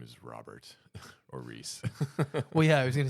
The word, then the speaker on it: Rhys: I like that yeah and Reese is spelled in like a weird Welsh way but we're not Welsh at all it's like RH Ys yeah can't tell you